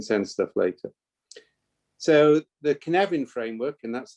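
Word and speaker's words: Cynefin: but we can send stuff later so the kinevin framework and that's how you pronounce it it's pronounced ken evin it's literal translation into english is habitat or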